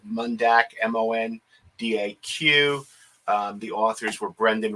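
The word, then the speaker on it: Mondaq: came to my attention from an organization called mundak m-o-n-d-a-q the authors were brendan reeves read read and eric i hope i pronounced this correctly eekoff e-e-k-h-o-f and they originally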